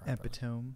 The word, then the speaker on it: epitome: you don't know I do know how to pronounce that word epitome the epitome of hyperbole he wants us to